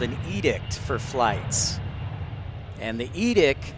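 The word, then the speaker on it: EDCT: The aviation word of the day is edict. It's spelled Echo, Delta, Charlie, Tango. Edict is your expected departure clearance time or your wheels up time.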